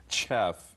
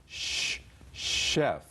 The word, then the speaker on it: chef: in shef pronounced sh comes from French chef is a French word if the CH is